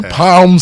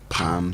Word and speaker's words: palm: my palm palm there also you do not pronounce but we say palm Sunday I've just told you palm Sunday so it should be palm Sunday palm